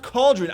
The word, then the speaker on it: Khaldrun: then unity of caldron oh is it like cauldron i think it's supposed to be pronounced cauldron i just figured that out well the death note just came out and it's not like i was thinking about this for like two weeks uh yeah i think that's supposed to be pronounced cauldron as a joke like cauldron like the big pot that witches cook the witch stupid uh i